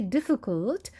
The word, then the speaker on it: difficult: So when we say difficult, we are stressing on the first part of the word.